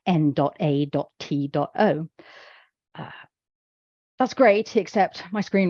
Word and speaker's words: NATO: We say it like a word, NATO, but say somebody absolutely was insistent they wanted it to be spoken NATO.